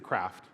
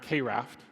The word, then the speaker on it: KRaft: anymore uh thanks to craft and yes I want to set the record straight it's craft not Kraft but regardless of how